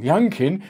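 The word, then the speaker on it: Youngkin: from a perspective oh young king he might be the future the only thing i can think of is his name rhymes with pumpkin in a state where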